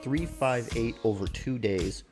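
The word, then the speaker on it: 358/2 Days: the way through was Kingdom Hearts 3 5 8 over two days for the Nintendo DS and yes that is the proper way to say that name this is the one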